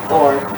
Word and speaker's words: Thorre: Thorre, but we pronounce it Thorre. And originally Tower, Thorre talaga T-O-R-E, but we make it H and double R to be not so common.